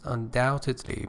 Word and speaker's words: undoubtedly: number seven is undoubtedly remember B is not pronounce undoubtedly means certainly beyond doubt